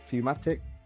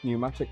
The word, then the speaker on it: pneumatic: Into the print head's fumat fumatic pneumatic, sorry, pneumatic fitting. Silent P and secure two PM36 screws.